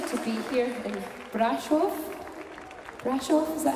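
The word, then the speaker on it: Brașov: Brasov, is that how you pronounce it?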